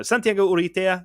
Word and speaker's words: Santiago Urrutia: Santiago Urrutia. I can speak Spanish. I don't know why I'm getting. That's exactly how I would pronounce it. Yeah, I don't know why I'm getting these. No, Santiago Urrutia.